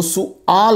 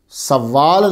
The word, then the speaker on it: سؤال: تو طلبہ خیال رہے اس کا تلفظ جو ہے وہ سؤال ہے، سوال نہیں ہے، لیکن میں بھی بولتا